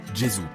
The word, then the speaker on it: Gesù: la langue pratiquée, et on prononçait alors Jesus, qu'on prononce en italien aujourd'hui Gesù.